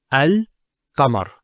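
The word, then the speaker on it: القمر: How do we pronounce this? It's al-qamar.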